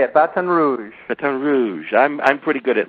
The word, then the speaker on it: Baton Rouge: you are you're in B Rouge did I pronounce that right yeah Baton Rouge batan Rouge that's how they say It Baton Rouge batan Rouge I'm I'm pretty good at lingu which by